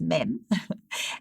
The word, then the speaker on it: mem: the letter mem so phonetically it is m as in mom but it's mem and as i said